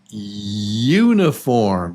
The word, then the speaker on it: uniform: Uniform. Do you hear that first sound? The U? U. Yeah, that's a long U.